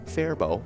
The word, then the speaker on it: Faribault: a win from our place on third and faribault you know we learned that recently that's how